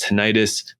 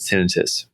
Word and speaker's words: tinnitus: to specialize in um tinitus which is often pronounced tonitis uh ringing of the ears. Both pronunciations are okay. Most of the world says tenitis, but the correct pronunciation is tinitus.